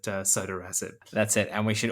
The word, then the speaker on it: sotorasib: Well, I've heard it both ways, but I think the people who have lots of Twitter followers and lots of publications tend to pronounce it sotorasib.